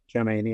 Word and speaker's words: Tchouameni: Tchouameni, yeah.